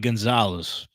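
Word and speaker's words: Goncalves: with this one because I think you say it as G it's it said like Gonzalez but it's spelled Gan Calis GIS Matt kavas offensive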